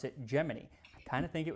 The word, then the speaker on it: Gemini: space on the upcoming Gemini missions. And yes, it's pronounced Geminy. I always thought it was Gemini, like this zodiac sign, but according to NASA in 1965, they said, "Nope, we pronounce it Geminy."